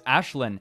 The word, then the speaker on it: Ashlyn: I know how to pronounce that name because Ashlyn. It's Ashlyn. Ashlyn, because Ashlyn was a character in Gigantic.